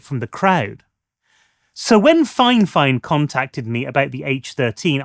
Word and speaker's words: Fifine: But whilst the company calls itself Fifine, that's just how you're meant to pronounce it.